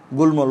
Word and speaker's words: গুল্ম: এরকম সম্মান এখানে ময়ের উচ্চারণ হয় কিন্তু, এরকম ল আমরা যদি বলি যে গুল্ম, এটা কি গুল্ল বলো, এটা কী হবে গুল্ম, লয়ের সাথে যুক্ত হয়েছে গুল্ম, তাহলে উচ্চারণটা হবে গুল্ম।